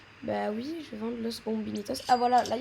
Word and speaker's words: Los Bombinitos: Donc en gros, c'est pas Los Bombinis et c'est pas Les Bombinis. C'est Los Bombinitos. Voilà comment on dit avec la bonne prononciation.